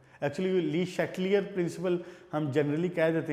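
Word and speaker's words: Le Chatelier: तो आप अगर यूट्यूब पे भी जाके ली शैटलियर लिखें ना, तो आप उसकी प्रोनाउंसिएशन देखें, तो वो जर्मन में उसको पढ़ने का जो तरीका है वो ली शैटलियर्स है।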